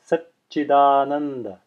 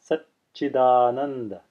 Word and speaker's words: Satchidananda: Sanskrit example here, Satchidananda, Satchidananda. Notice I'm not saying Satchidananda. Satchidananda would be the pronunciation if there was a single cha there instead of a double cha. But here we have two cha sounds, Satchidananda.